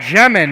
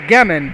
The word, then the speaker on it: Jemin: Jemin, not Gemin, but Jemin is that gentleman's name.